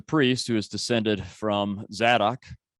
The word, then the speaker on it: Zadok: So Zadok is it's often spelled with a Z, but it's really a tz sound.